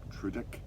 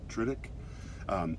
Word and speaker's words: Tudyk: I think it's like Tudyk, but like Riddick, but Tudyk.